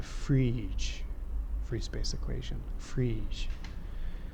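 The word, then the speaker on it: Friis: each free space equation freeze that's Danish apparently most of the people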